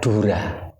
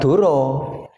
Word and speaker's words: Dura: Yang pertama adalah Dura. Bacanya bukan Duro, tapi Dura. Kenapa? Karena sastra Jawa mengenal vokal O ini setelah abad 15.